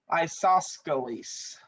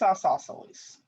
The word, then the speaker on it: isosceles: the same isosceles or as one of my face-to-face students likes to say isosceles but that's not how you say it it's isosceles okay number nine and